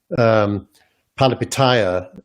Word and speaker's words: Palihapitiya: The other approach, which Chamath Palihapitiya is doing. Good job with the pronunciation.